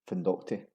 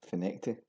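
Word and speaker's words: Findochty: It's often pronounced as it's written, Findocti. It's actually pronounced as Finecti.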